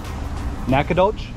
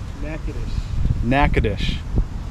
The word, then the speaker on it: Nacogdoches: Nacogdoches? Nacogdoches. Nacogdoches. Not Nacogdoches, as it's spelt.